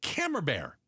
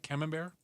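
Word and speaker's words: Camembert: You are forbidden from bringing creamy cheeses like Brie or Cammer Bear. You pronounce it right. Came bear.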